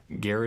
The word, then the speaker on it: Gara: No, Gara is pronounced the same way you pronounce Gara from Naruto if you're into anime.